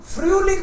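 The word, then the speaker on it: Frühling: So Himal रिष्टुंगन, G-E-N इज gun, Himal रिष्टुंगन, द यारेज़ाइटन, there winter, there फ्रूलिंग, फ्रूलिंग बोला, एच नहीं बोला अगेन, क्योंकि एच इन the middle is silent.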